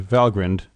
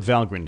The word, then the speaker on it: Valgrind: So let's see what Valgrind has to say. And note the pronunciation by the way with a short I. It's not some contraction of value grinder.